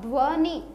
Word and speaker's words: ध्वनि: ध्वनि, ध आधा है, इसको हम ध आधा ही बोलेंगे, ध नहीं बोलेंगे। ध्वनि, ध्वनि तो ध पूरा, ध्व, ध्व मतलब ध आधा व पूरा, ठीक है।